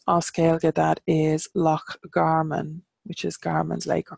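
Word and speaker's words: Loch Garman: the mudflats and our scale get that is lock Garmin which is Garmin's Lake or Carmen and we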